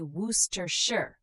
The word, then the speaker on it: Worcestershire: Worcestershire, we say Woos-ter-shire.